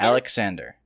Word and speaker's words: Alexander: Alexander. That's how they say it in English. Yeah, I see how precisely you're pronouncing his name. Definitely not how the Greeks did, which was Alejandros.